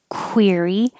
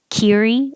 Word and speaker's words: query: middle of the word the q u sounds like a kw so you have to round your lips query and see quince make your lips small if you don't it'll sound like kiri and sequence not the